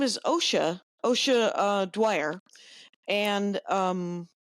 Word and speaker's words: Dwyer: She opened for me at Bombs Away in Cincinnati, and her name is Ossia Dwyer, and it's spelled Ossia, I believe, right, Kyle? Yes, indeed. And then Dwyer, like Bill Dwyer, but Yep.